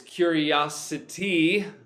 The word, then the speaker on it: curiosity: Now you've got other words like curious, and to make a noun from that, it's curiosity. Syllable stress shift. Curiosity.